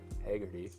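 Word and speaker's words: Hagerty: I use the Haggerty. That's how you pronounce it.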